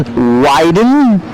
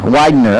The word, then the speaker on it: Widener: luck tonight Mr James widen widen Widener Widener okay I was saying it wrong the whole time so when you get